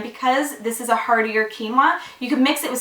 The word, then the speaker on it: quinoa: I'm sure a lot of you guys have heard of quinoa by now and know how to properly pronounce it. Quinoa, not quinoa or whatever, how people pronounce it.